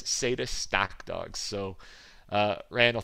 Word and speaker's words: Satus: just because it's not status and it's not status it's s-a-t-u-s sata stock dogs so uh